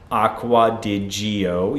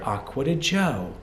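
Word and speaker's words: Acqua di Giò: so finally moving forward on this channel you will not hear Acqua di Gio you will hear aquata Joe because this in Italian is aquata Joe even though I'm speaking in English I will pronounce it in Italian aquata Joe by Armani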